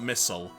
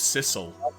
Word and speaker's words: Sissel: that's all um sorry I'm not missile my name's Sissel because you know it rhymes I'm just gonna bump